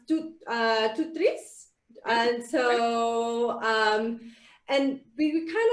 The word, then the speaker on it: TOOTRiS: So the TOOTRiS word is from, it's a French word, and it's pronounced TOOTRiS.